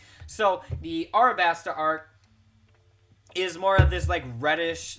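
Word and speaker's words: Alabasta: pair is our best i thought it was always alabaster i've been saying it wrong this whole time so the our basta arc is more of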